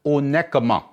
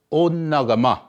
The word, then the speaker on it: Onekama: Okay, they call it Onekama. Okay, and it's supposed to be pronounced Onagama.